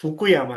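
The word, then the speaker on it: Fukuyama: काफी कुछ कह दिया एक ही लाइन में आपने तो, लेकिन प्रोनाउंसिएशन तो गलत था आपका। जो आपने कहा जा रहा था वो फ्रांसिस फुकुयामा है, जो फ्रांसिस लिबरल भाई से आइडियलिज्म।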